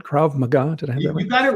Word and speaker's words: Krav Maga: over the years can you can I get pronunciation right KRA magah you got it right so for those that